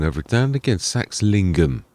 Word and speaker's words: Saxlingham: Sax lingum. That's it. I got to remember the word lingum is what I was sort